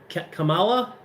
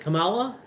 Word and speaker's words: Kamala: how you say her name kamala is that it kamala am i pronouncing it right yeah okay i'm just gonna